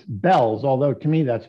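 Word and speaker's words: Bealls: never pronounce this right I gather it's it's Bells although to me that's pronounced Beals the way it's spelled but apparently it's it's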